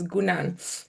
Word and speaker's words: Ngunan: Um, you pronounced Guran actually well. So, the N is silent, so it's Gan and then the other name is.